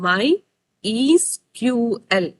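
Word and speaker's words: MySQL: company on द माय एसक्यूएल AP okay इला pronounce माय ईसक्यूएल अला सो माय ईसक्यूएल अला मायसक्यूएल मायसक्यूएल आईपी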